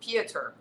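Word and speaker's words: Piotr: he's the band right his name is peter but it's spelt p-i-o-t-r so it's pieter siewinski we live in times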